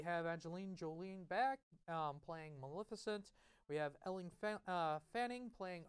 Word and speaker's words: Maleficent: I'm going to do Maleficent.